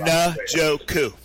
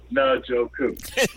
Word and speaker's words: Njoku: Njoku. Njoku.